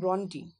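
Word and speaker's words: Brontë: আমরা এই কবিতায় অর্থাৎ এই এমিলি জেন ব্রন্টি, অনেকে আবার ব্রন্টও বলে, কিন্তু অ্যাকচুয়াল উচ্চারণ ব্রন্টি হয়। এখানে ই এর মাথায় দুটো ডট ডট থাকে তার জন্য।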